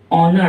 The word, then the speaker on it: honour: जब ये हॉर्स की जगह ऑनर आता है तो उसकी स्पेलिंग क्या हो जाती है, HONOUR।